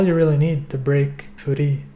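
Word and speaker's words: Furi: really need to break Foody the title is meant to be the Japanese pronunciation of the English word free so the game has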